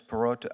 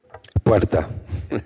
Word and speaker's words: Puerta: Perota, how do you say your last name, sir? Puerta. Puerta. It's okay, though. I understand. You can't roll the R's.